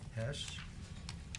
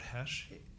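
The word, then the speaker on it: Hoesch: you may call your next Witness uh Robert Hesh to the staff thank you Dr Hesh if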